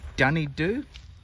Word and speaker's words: Dunedoo: I think that's is that how you pronounce it, Bonnie? Dunedoo?